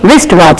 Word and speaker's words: wristwatch: R is here in the beginning, not W, not wrinkle. Like we say wristwatch, W-R-I-S-T.